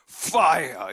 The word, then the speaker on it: fire: fire라는 발음을 할 때는 좀 F 발음을 입안에 바람을 많이 넣으십시오. fire 이렇게 해줘야 돼요.